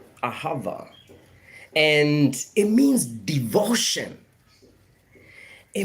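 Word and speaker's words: אהבה: Hebrew language actually you know comes from it's pronounced as aava aava and it means devotion it means deep care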